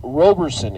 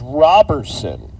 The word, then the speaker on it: Robertson: Uh for whatever the reason, uh his name is very often mispronounced Robersonson. It is not Robersonson. It is Robertson.